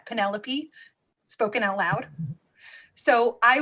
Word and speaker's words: Penelope: it is today uh once read an entire series of books about someone he called pentelope because he never heard the name penelope spoken out loud so